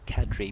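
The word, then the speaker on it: Qadri: difficult names to pronounce so Hamid Kadri you know Cadre being the the one that's people don't sometimes know or how to pronounce Etc but this time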